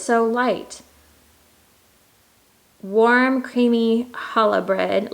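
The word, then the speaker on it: Challah: so light warm creamy Hala bread last year I said Chala like a doofus of course the sea is silent and a buttery brown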